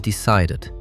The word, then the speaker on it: decided: Remember, only add the extra syllable if the base verb ends in T or D. That clears up so much confusion. So it is started and decided because they end in T and D.